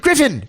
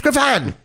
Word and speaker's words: Griffon: He pronounced it Griffin. It's Griffon. His own dog.